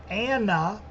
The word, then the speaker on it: AN_NA: a singer songwriter uh by the name of Anna and it's spelled a-n underscore in a and the name of